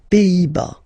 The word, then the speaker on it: Pays-Bas: Final S here, not pronounced. Same thing here. Pays, pays, and then bas. Les Pays-Bas.